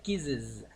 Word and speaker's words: kisses: Entonces kisses en realidad no se pronunciaría así, besos, se pronunciaría kisses, kisses, ¿sí? Con IZ.